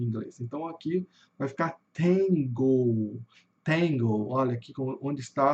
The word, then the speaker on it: tango: Então, aqui vai ficar tangle. Tangle. Olha aqui onde está a sílula tônica. Tá no T, tá no começo. Tangle.